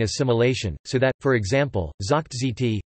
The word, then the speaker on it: זאָגט: Moreover, Yiddish has regressive voicing assimilation, so that, for example, zakht says, is pronounced zikt, and hq, hoch dm, forward, is pronounced ha dm.